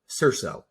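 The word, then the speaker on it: SERS: I think you'll find it's pronounced CIRZO. Yeah.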